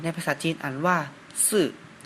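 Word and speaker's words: 四: 4 เลข 4 ใน ภาษา จีน อ่าน ว่า ซื่อ ก็ จะ เริ่ม จาก ขีด ด้าน ซ้าย ก่อน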